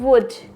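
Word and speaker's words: would: जाएगा यहां पे ब वुड क्या पढ़ेंगे वुड नेक्स्ट हाफ तो एल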